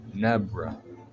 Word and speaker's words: Nebra: Overall power score is at 82.1 for Nebra. Rhymes with zebra, I know.